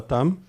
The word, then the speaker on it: tam: Essa é a sílaba tam. Okay, it's a T, a ta, and then there's a long A, so it's a ta, and this basically is a zero, an M, tam, yeah, okay?